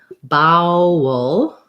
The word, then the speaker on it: bowel: And then bowel, you're going to have the vowel is going to be in the second syllable, and the first bow is like the brown cow diphthong. So bowel. And you can kind of think of this again as being an or an and a schwa before the dark L.